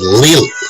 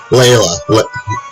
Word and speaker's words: Leila: Panem activity for review I said Leah Leah it's not it's lela lela lela lela that's